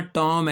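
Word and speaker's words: tomb: टॉम टॉम नहीं कहना। टॉम है यह।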